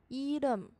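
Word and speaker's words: 이름: 音是 l l，加上这个收音怎么读试一试。 lum lum lum，所以合起来 ilum ilum ilum 就是名字的意思。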